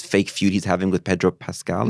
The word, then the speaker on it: Pedro Pascal: One was this like hilarious fake feud he's having with Pedro Pascal, is how you pronounce his name.